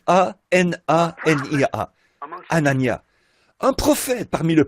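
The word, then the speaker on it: Hanania: Anania, je pense que ça doit se prononcer comme ça. H A N A N I A.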